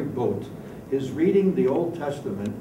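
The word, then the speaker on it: Boadt: from the library Larry boat he spells his name b o a d t but pronounced Larry boat his reading the Old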